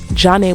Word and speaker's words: Zhané: Thus, the stage name Zhane was born. It was a combination of their first names, Jean, and Renee with the French pronunciation.